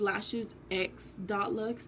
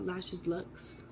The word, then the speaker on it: LashesX.looks: Like it's LashesX.looks, not LashesLooks.